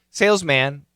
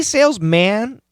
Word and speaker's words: salesman: about pronunciation here salesman do we say sales man we can if we want to emphasize not a woman but if we're just talking in general male female whatever it doesn't matter just position the pronunciation is actually salesman salesman it's going to be MW n salesman salesman okay and plural salesmen